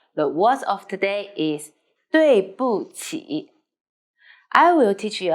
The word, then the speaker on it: 对不起: 对不起的位对不起 So we need to pay attention. 不 need to light and short.